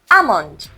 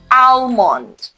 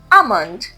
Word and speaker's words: almond: The L is silent for many speakers. So we say almond, not almond. One more time. Amond.